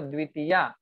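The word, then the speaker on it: द्वितीया: Pronounce it proper. Dvitiya.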